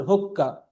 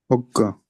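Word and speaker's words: حقہ: فالحاء لا يقرأ مثل الحاء العربية، وإنما يقرأ كالهاء، فنقول هكة. حقة نعم.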